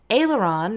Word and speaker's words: aileron: salad course is next aileron rhymes with sailor John and comes from French serve the ailerons with